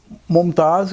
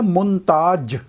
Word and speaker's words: ممتاز: ہی جو لوگ آئے، تو وہ ممتاز کا تلفظ ان کی زبان پہ ہے منتاج.